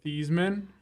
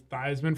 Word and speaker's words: Theismann: So it's Theismann for Heisman.